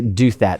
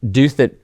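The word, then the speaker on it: Douthat: States and uh Ross I always want to say do that that's not how you pronounce his name doth that so he wrote an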